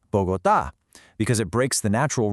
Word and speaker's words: Bogotá: Rule 1 says we should stress the second to the last syllable, but the city is called Bogotá.